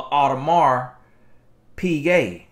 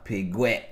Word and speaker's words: Audemars Piguet: right here is a audemars piguet that's how you pronounce it now you know black folk we pronounce pigwet out of mark pig hey that's an art